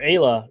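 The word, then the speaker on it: Ayla: the K bear which the main character's name is Aya and I've heard it pronounced Isa but we kind of settled on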